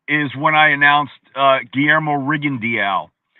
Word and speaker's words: Rigondeaux: The way his name is spelled, it looks like Rigondeaux, right? But I went to him and he said, my name is Guillermo Rigondeaux. I said, Rigondeaux. Sí, Rigondeaux. No Rigondeaux. No, Rigondeaux. Okay, thank you.